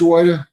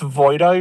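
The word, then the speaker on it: Wojda: Wida? Yes, sir. Is it Wo I D A correct? It's pronounced Voida, your honor.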